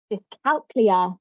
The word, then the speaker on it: dyscalculia: Dyscalculia or dyscalculia, sometimes it's pronounced.